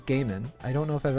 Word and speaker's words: Gaiman: I've heard Neil Gaiman, Jamin. I've heard that as well. I have not heard that one. I'm pretty sure that the proper name is Gaiman.